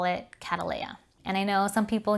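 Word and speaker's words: Cattleya: after a person's name you would pronounce it how the person would pronounce their name for example catelya is pronounced this particular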